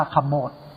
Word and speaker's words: ขมด: ว่า รอย ขมด นี้ คำ ว่า ขมด เนี่ย อ่าน ว่า ขมด ขมด เนี่ย เป็น ชื่อ